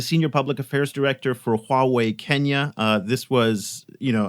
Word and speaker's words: Huawei: just for the record the way you pronounce it is Huawei you know two characters wah and wait there we go Adam